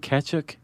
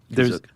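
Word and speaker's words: Kashyyyk: made it to uh What is it? Kazook? Kazook. Kazook. Um It's like ketchup.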